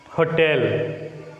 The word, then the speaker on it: hotel: Here the word hotel takes stress on the second one, not the first one. As I said earlier, the rule may not apply to all the words. The first rule may not cover all the topics. This is an exceptional case. Hotel. Here the first syllable ho is a weak one and tel, the second syllable, is a strong one.